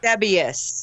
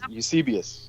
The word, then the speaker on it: Eusebius: Eusebius.